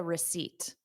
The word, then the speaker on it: receipt: Repeat after me. Receipt. Seat. So I'm sitting on a seat. Receipt. That is the sound. And the beginning sound is r, because it's unstressed.